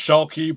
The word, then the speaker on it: Schuelke: It's pronounced Schuelke, but say Schuelke, say Schuti, however you want. It's a Polish / wannabe German last name.